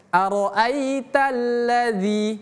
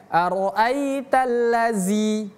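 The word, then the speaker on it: أرأيت الذي: Aro'aitalladzi, itu pakai zal, bukan aro'aitallazi.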